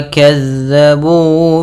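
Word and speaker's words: كَذَّبُوا: Innahum kanu la yarjuna hisaba wa kazzabu bi ayatina kizzaba. Pada bacaan wa kazzabu, hati-hati dalam melafalkan huruf zal yang dimana zal ini pelafalannya dari ujung lidah kita menempel dengan gigi sari atas kita.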